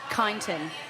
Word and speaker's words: Kyneton: Kyneton. Kyneton. Kyneton. How do you spell that?